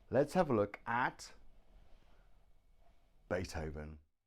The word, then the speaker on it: Beethoven: and not even then so we have the letter V pronounced but now you put your teeth on your bottom lip here on your bottom lip and breathe Beethoven Beethoven the V is made